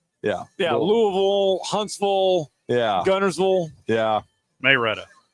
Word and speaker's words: Louisville: You got to say it like you're uh eating jello- or or like instead of it's Louisville, not Louisville. Yeah. Louisville. Yeah. Yeah. Louisville.